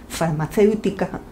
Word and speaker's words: farmacéutica: La palabra farmacéutica tiene cinco sílabas y el acento recae en la antepenúltima sílaba, ceu.